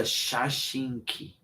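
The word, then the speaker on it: 写真機: Like shak shaki or like I don't know. It's a shashinki.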